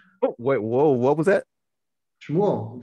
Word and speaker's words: Shmuel: Shmuel, that's the Hebrew for Samuel.